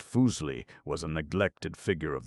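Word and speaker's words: Fuseli: Fuselli pronounced Fooli was a neglected figure of the utmost importance.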